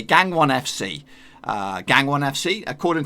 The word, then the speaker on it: Gangwon: looks gang one FC but this is how you're actually supposed to say it yes is supposed to say gang 1 FC now I might